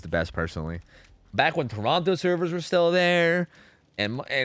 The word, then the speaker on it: Toronto: Toronto. I pronounced the T, so.